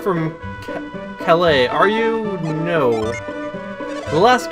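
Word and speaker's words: Kalay: We'll return Hammett to why can I not pronounce this? I know how to say it. It's Calais, but I just can't say it!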